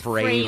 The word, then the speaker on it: Frehley: A lot of people say Frehley. It's Ace Frehley, Frehley because yes. his side project was Frehley's Comet to rhyme with Haley's Comet, so that's how you can remember it.